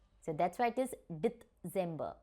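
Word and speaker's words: Dezember: So in English we pronounce it as November, and in German also it is November. Okay? December.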